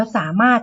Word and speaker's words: สามารถ: แรก ค่ะ สุด ท้าย สามารถ อ่าน ว่า สามารถ จะ เขียน ว่า สา มา รถ อย่า สับสน นะ คะ ลูก สามารถ ค่ะ 2